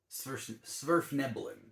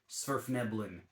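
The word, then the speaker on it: Svirfneblin: Sverfneblin, I think is how you would pronounce it.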